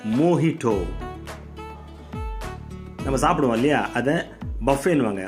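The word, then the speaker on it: mojito: onion அப்படின்னுவாங்க onion இது வந்து மொஜிட்டோன்னுவாங்க மோகிட்டோ நம்ம சாப்பிடுவோம் இல்லையா அத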